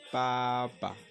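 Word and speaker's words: 爸爸: Alors, papa en chinois, on dit papa, papa, papa, papa.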